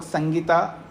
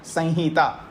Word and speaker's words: संहिता: हैं इसको वैसे तो और लोग संगीता मोटिवेशन में बोल देते वैसे बोलना सही उच्चारण संहिता कि संहिता आ है